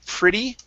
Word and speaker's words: pretty: And then let's practice the pronunciation on pretty. Pretty. Pretty. Okay. Don't push on that R sound. You're saying pretty. Okay, so it's pretty.